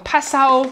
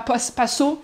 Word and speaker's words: Passau: Mais on découvre le sud de l'Allemagne, on découvre des villes comme Passau, et pas Passau, hein, mais Passau, on apprend à bien les prononcer, comme Regensburg, Würzburg, Sigmaringen,